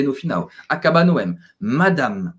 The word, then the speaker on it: Madame: final acab no mad e presta atenção também porque não esse som não fica nazal então não é Madame não é madame como a gente fala em português é Mad então segundo a ele não é anasalado pelo M Madame monsieur Madame Beleza